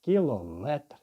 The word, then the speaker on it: кілометр: В таких словах ставиться наголос на слово метр, тобто кілометр, сантиметр, дециметр, міліметр і таке інше.